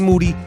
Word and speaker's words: Moody: and Jordan and G moody last name rhymes with duty told you once say